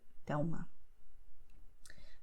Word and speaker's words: Thelma: letter is a consonant, and then the sound will be U, Miguel, Thelma.